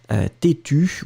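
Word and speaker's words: têtue: Têtu with the E, but then you don't pronounce it.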